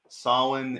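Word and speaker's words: Samhain: so question one uh typically tricky gaelic spelling sarwin is spelled s-a-m-h-a-i-n yeah i mean scottish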